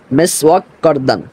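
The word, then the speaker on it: مسواک کردن: যেটা যে হরফটা রয়েছে সেটা লাম নয়, সেটা হলো কাফ। তাহলে এমত অবস্থায় উচ্চারণ হবে এরকম যে মেসওয়াক করদান।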